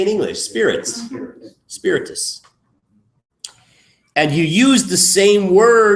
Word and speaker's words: spiritus: Spiritus.